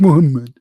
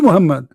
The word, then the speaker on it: Muhammad: do you say is how do you say it correctly Muhammed Mohammed Mohammed Abdullah this is his name not Mohammed what Muhammed do is Muhammad I'm by the way his name is not Mohammed his name is Cotham